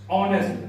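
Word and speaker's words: honest: आपका बिल्कुल गलत क्यों जब आप इसको प्रोनाउंस करोगे तो क्या लगेगा ये ऑनेस्ट ओ की आवाज आ रही है ओ की आवाज आ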